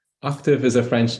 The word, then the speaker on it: Octave: Tav is pronounced to rhyme with suave.